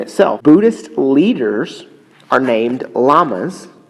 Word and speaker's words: lamas: Buddhist leaders are named lamas, not like the animal, pronounced like the animal, but it's spelled with one L.